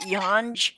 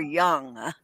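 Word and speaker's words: Yonge: lives on yon street is it yonj or young it's young street young even though it's spelled r o y o y o n g i know it's still why oh ng but it's named after somebody and that's that's the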